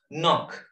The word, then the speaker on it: knock: Knock. Knock. What is the silent letter of knock?